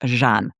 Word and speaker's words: Jeanne: I just thought I'd tell you now it's actually pronounced Jean.